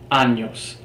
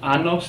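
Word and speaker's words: años: at the word anos the letter it is pronounced as if it is always written with a Y anos anos to ask how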